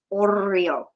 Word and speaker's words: Oreo: Um, but uh, and then she found uh her Oreo, which it's pronounced Oreo. I mean, the R is rolled.